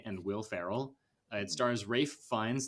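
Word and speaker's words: Ralph Fiennes: Will Ferrell it stars Rafe finds there you go Peter I'm saying it right on the Taylor Joy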